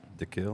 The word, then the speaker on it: Kiln: How do you say that? The kill. The kill. Kill. There we go. My friend Richard's from there, and he always bitches at me because I say it wrong. Just leave the N off.